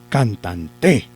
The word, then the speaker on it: cantante: Por lo tanto, esta sí es una palabra grave porque lleva el acento en la penúltima sílaba. En la penúltima sílaba lleva el acento la palabra cantante. Profe, ¿cantante sí es una palabra grave? Sí. ¿Por qué? Porque lleva el acento en la penúltima sílaba, que es tan, ¿cierto?